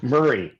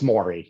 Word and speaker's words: Maury: they miss pronounce it murray often yeah it's funny more more i always tell people mori like povich and maury povich just canceled his you know 30-year run show so i i don't know what i'm going to tell the next generation to tell them how to pronounce my name but yeah it's it's maury yeah maury okay god